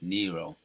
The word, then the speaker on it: Nero: to the ground and I was calling IM Neo in my video yesterday so I I'll make a correction on that it's Nero right that's how you pronounce it Nero he would force people